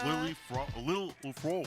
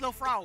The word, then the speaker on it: Lil Frog: We got Lily Frog. I'm trying to say it right because they told me how to say it right. How do you say it? Frog. Frog. Oh, it's Lil Frog.